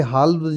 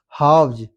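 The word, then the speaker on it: halves: यहां पे हावज नहीं हाव्स। ये एल साइलेंट है यहां पर।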